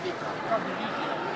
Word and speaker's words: Vika: Che Vicky? Vika. Però lei si fa chiamare Vika.